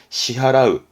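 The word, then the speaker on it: 支払う: 발음은 시하라우, 시하라우.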